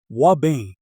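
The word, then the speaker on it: ouabain: certain African plants called wabain pronounced wabain stood potsium exchange pump.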